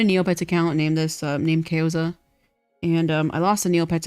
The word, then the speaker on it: Kayozia: And that's why I call myself Keoza because, like, that's the name I know. But it's technically pronounced Keozia.